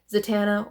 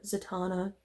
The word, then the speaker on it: Zatanna: This is Harley Quinn Little Black Book, which is featuring Zatanna or Zatanna, potato patata, depends on how you want to pronounce it.